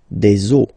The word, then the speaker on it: eaux: the rule is that you get to put X here at the end, but then same rule, you don't pronounce it. Des eaux, okay?